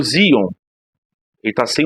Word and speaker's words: Xeon: eu tinha um processador Zion se escreve sheon a pronúncia Zion e dos grandes tá